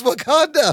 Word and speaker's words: Wauconda: It's the same place, Wakanda.